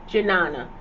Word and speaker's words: Jnana: Pronunciation. To treat you right. Jnana.